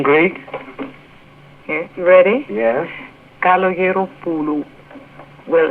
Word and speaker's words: Kalogeropoulou: Kalogeropoulou.